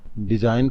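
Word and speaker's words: design: हा silent letter है डिजाइन का जी साइलेंट लेटर है नॉलेज नॉलेज में के और दी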